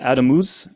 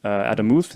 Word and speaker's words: Adamus: It's called Adamus, Adamuth, if you say it correctly. Try to say it correctly, Spanish accent.